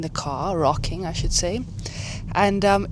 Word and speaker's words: Sinaia: First day in Saya, which I confirmed is how you pronounce it.